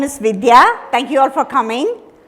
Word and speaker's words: Vidhya: First of all, they often ask me how to pronounce my name. I refer to the popular company which is called Vidhya.